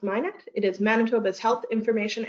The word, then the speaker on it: MICNET: So Minet is spelled MICNET, but pronounced Minet.